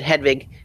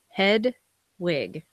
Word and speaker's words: Hedwig: Hedwig. Like Well, I mean, Hedwig is like an actual German name, I think. Right. And it's pronounced with sort of the V, German sound. Like there's Hedwig in the Angry Inch, that movie.